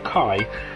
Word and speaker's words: key: That key can be pronounced both key or kai, leading to some confusion.